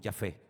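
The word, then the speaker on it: יפה: Hermoso es Yafé.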